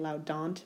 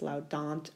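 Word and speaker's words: laudant: meaning they praise and the same linguistic rule applies the long vowel followed by a T or an NT makes the Val short giving us loud daunt with a short a instead of a make run over the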